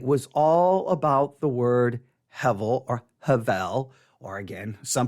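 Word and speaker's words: הבל: So some people will say Hebel, but it's actually the B sound gets a V, so it's Hevel. And I think the correct way to actually say it is Havel.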